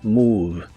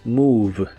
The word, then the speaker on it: move: El verbo mover, moverse o incluso mudarse como mudarse de casa, en el presente de inglés es move. La O se pronuncia como una U larga.